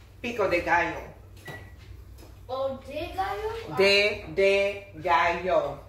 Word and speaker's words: pico de gallo: Pico de gallo. Oh, de gallo? De gallo. Pico de gallo.